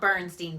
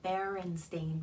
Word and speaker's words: Berenstain: so we've got the I know it's not Bernstein bears but I'm gonna keep referring me to it but Berenstein bears berenstain bears so let's pronounce it the right way baby I think I'm